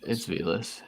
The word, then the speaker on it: Velus: Is it Velus? Is that how you say it? It's Velas.